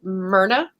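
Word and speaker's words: Muirne: in various talks like there's a m-u-i-r-n-e and it's like myrna for for english audiences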